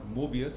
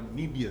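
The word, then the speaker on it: Möbius: Just like to correct you somewhere, it's not Mobius, it's actually a Mebius syndrome. That's how it's pronounced.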